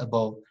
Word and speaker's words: above: next above above not above above above above okay above the first sound is schwa above and then country